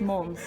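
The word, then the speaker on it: Måns: You write it as Mons, but you say it as Mons. Like Mons. it's Swedish.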